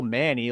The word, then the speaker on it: Manni: it's spelled Manni. Huh. Is that just the way to differentiate the two? I mean, it's still Manny.